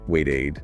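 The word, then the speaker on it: waited: Same if a verb ends in d like need it gets lost. Ah okay. So adding the little i sound the e separates the sound. Exactly. It makes the past tense ending clearly audible. So wait becomes wait aid.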